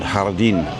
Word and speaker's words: jardín: And jardín, like the jardín la Caleta, the hotel we were just at. It's jardín.